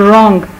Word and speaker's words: wrong: फिर रिंकल्स, जो चेहरे पे झुर्रियाँ पड़ जाती हैं उनको रिंकल्स कहते हैं, रिंकल, इसमें भी डब्ल्यू साइलेंट है। फिर रॉन्ग, राइट और रॉन्ग, तो इसमें डब्ल्यू गलत कहो रॉन्ग कहते हैं।